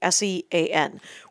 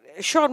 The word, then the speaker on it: Sean: because of dem naps it is the Irish pronunciation of John from the right so Shaun White is a stand-up